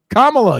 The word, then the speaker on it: Kamala: I can't repeat it say it the correct way Kamala you racista Kamala that